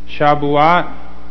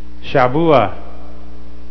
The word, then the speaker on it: Shavuot: the the Festival of shabat okay another one is another pronunciation is shaba okay and another one is shabua shabua okay they all